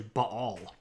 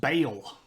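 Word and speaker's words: Baal: the glory of Bal if you grew up in a Southern Baptist Church it's pronounced Bale which is not accurate but moving along um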